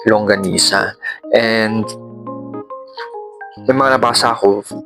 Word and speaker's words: longanisa: St calling Anyway longanisa minsan nasasabi ko langonisa pero sabi ni Wala daw langonisa doesn't exist so ang tamang pagpronounce ay longanisa and may mga nabasa